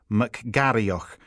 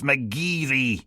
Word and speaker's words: McGarriach: Pronouncing it McGarrioch, with a gritty coffee machine hiss for the och, as in loch. Steele shook her head. "It's McGeary, you spudge nugget."